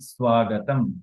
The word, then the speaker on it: স্বাগতম: সরস্বতী, স্বতী, স্বাগতম, স্বাগতম, স্বাগতম। হ্যাঁ, তো এই হচ্ছে আমাদের ব, ব, ঠিক আছে, ব, ব, ব, এভাবে উচ্চারণ করতে হবে, স্বাগতম।